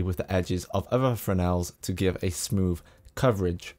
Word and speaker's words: Fresnel: Now this is a typical Fresnel light. The S is silent.